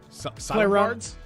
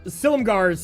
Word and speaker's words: Silumgar's: Maybe I can play around, how do you say this name? Solemgar's? Oh, Silumgar's Scorn.